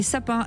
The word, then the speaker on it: SAPN: Vous envoyez sapin SAPN. Mais ça va pas. On l'a vu. Qu'est-ce qui se passe? Là, vous envoyez sapin, voilà, comme ça se prononce.